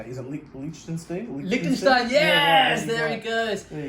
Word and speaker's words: Liechtenstein: Liechtenstein, yes!